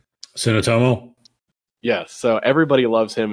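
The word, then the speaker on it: Suotamo: Tsunotomo.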